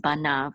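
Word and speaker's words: בָּנָיו: with the kamatz, and the yud and the vav together will say nav. Okay, you won't really pronounce the yud. So this is banav, and this is, if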